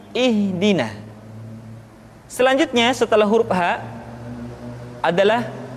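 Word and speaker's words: اهدنا: Perhatikan huruf ha seringkali diucapkan dari dada. Ha. Ingat, di dalam makharijul huruf kita tidak mengenal pengucapan huruf-huruf dada. Tidak ha, tetapi ha. Tidak ihdina, akan tetapi ihdina.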